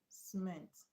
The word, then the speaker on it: cement: But the stress is not on the first level but on the second level because the first level contains a weak vowel sound.